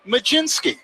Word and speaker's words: Mlodzinski: Last name is spelled Mlodzinski. Zach, take it away. Majinski. Yeah. I beg your pardon? Bless you. What happened to the LOD? I just know how to pronounce it. I can't spell it. Carmen Majinski, right-hander. And where did the J come from? I see a Z. I don't see any J in there.